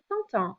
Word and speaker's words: content: If you add the E on the end because you're a girl, you're describing yourself, then this T gets pronounced. Otherwise, if you're a guy, je suis content, you don't hear that last T.